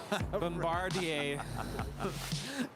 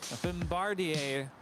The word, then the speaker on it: Bombardier: into arguments about bombardier i know some people pronounce it bombard them i can't even say it bombardier it's not bombardier bombardier history roger radar alaska sky west flight 3365 coming in from santa rosa it's an e-jet next up brand new yeah just a couple months old there is no deer in bombardier someone's saying turn off